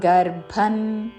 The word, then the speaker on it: గర్భం: తస్మిన్ గర్భందామ్యహం తస్మిన్ గర్భన్ తస్మిన్ గర్భన్ ర కి మహా ప్రాణాక్షము భవత్తు అనుస్వారము త వర్గములోని అనునాసిక అన్ ఉచ్చారణ తస్మిన్ గర్భన్ ద ధామ్యహం ముందు అల్ప